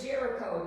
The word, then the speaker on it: Jericho: They had took the land of the city of Jericho.